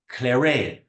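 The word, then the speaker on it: clairet: to be confused with Clare so Clare is actually c l a i r e t we don't pronounce the T at the end and CLA CL a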